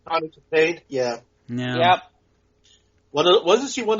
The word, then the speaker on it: Kitaen: Is that how the last name is pronounced? Tawny Kitaen, yeah.